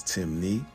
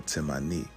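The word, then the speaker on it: Temne: Despite the various spelling variations, Timni only has two ways of pronouncing it, which is Timni or Timani, and this still maintains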